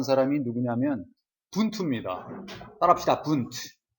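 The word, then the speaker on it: Wundt: 분투. 운트가 아니야. 이건 독일어로 W는 분트라고 읽어.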